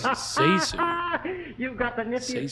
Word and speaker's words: ZaSu: more It's pronounced ZaSu.